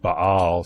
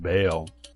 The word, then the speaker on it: Ba'al: videos I mentioned that the Hebrew word bah sometimes pronounced Bale was used for God